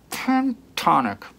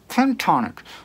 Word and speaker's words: pentatonic: he's totally mispronouncing pentatonic he continually says ten tonic pentatonic i heard him say